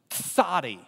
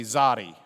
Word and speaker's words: tsadi: Our other letter for today is the tsadi. Pronounce the T and the Z.